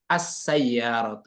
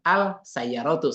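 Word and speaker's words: السيارة: ke huruf yang setelahnya, seperti as-sayyaratu. Itu kan al-sayyaratu sebenarnya kan hurufnya. Tapi dibacanya as-sayyaratu.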